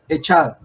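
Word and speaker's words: אחד: Dios, es utilizada la palabra hebrea que se pronuncia echad, la cual denota la unidad completa.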